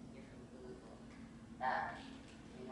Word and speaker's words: Louisville: Okay, Louisville, but not Louisville. Mm. That's how you spot the tourists.